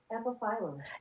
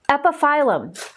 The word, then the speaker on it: Epiphyllum: Epiphyllum. Epiphyllum. That's how you pronounce it. That's what he's trying to figure out. Epiphyllum.